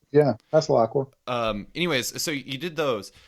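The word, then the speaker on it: Allen Passalaqua: Did I pronounce that correct? Yeah, Paslacqua.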